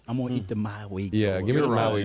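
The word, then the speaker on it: Mauigoa: I think it's Goa at the end. Yeah. Maui Goa. I'm going to eat the Maui Goa.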